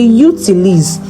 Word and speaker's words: utilisent: We say utilisent because because in French the ENT is not pronounced at the end of our French verbs verbs. Don't forget. Okay, let's go again. 40 % des Luxembourgeois utilisent les transports en commun.